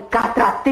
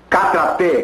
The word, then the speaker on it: karatê: Vou usar a arte mortal de Catratê em você. Está enganada. Karatê, como você diz. A pronúncia correta é karatê.